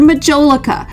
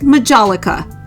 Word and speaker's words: majolica: These are Majolica, or sometimes pronounced Majolica, and they are Italian.